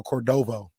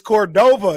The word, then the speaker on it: Cordova: And you kept calling it Rancho Cordovo. Oh yeah. And then like an hour in, people were like, "It's Cordova."